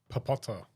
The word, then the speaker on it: Papotto: Papota.